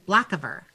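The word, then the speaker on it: Blackavar: She'll just I guess she'll look at him, the black, how's the name pronounced again? Blackiver.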